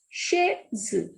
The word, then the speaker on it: chaise: CH is sh. A and I vowel combination sounds A. So this is chaise.